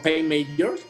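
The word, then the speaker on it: pipe major: las bandas de gaitas conocidos también como pain major así y bueno se escribe pipe a mayor pero sí ya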